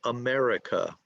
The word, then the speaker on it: America: How many syllables? Okay, somebody I think said 4. America. Okay, 4 syllables. Where is the emphasis? Where's the stress? I'll say it for you. America. Where's the stress? Is the stress on syllable 1, 2, 3, or 4? America. Okay, good, Two. good. Okay, let's see. America. America. Okay, so it's on the second syllable.